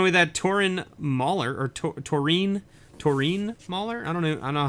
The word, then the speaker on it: Taurine: Carl E's walking away with that Torin Mauler, or Taurine Mauler? I don't know how you want to pronounce it. It's Taurine. It's got to be Taurine, right? Because it's E-A-N.